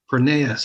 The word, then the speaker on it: Pronaos: It's Pronaos. I should have remembered that too, right? Like That's okay. like Chronos, but Pronaos, I don't know, pronounce.